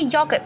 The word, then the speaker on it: yogurt: Wouldn't that be Y-A? Not instead of Y-O? It's Y-O. Yo.